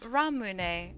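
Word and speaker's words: ramune: haven't had R Ramen ramun is that even how you say it in so long that shit's good no no it's called ra ramun and it's a uh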